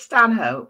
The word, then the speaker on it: Stanhope: evening so it is it has always been in my family stanh hope but but it is pronounced Stan up by some people and it if you say it's Stan hope then that's how you say it is that's